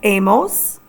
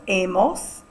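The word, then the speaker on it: hemos: Our H's are all silent. Our L A form is a spelled H A. Our nos form is pronounced amos. H E M O S. Again, it's pronounced as amos.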